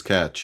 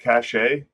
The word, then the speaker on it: cachet: And then that's the Chase Catch. Isn't it Cachet? Isn't it French?